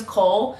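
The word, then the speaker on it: Chaol: saying his name is Cole, but it's spelled C-H-A-O-L. So I feel like it's probably like a mix of like Kale and Cole, but I've just been saying Cole because it's easier for me.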